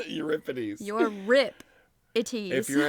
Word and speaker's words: Euripides: It says your rip ities. Euripides.